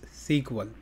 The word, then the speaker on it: SQL: start what is SQL there is also alternate pronunciation for SQL that is SQL SQL stands for structure